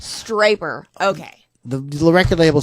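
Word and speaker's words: Stryper: Striper rhymes with hyper.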